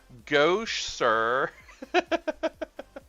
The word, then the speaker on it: gouache: want to sound like a art 4y it's pronounced gouache Go sir I've heard it called go and I may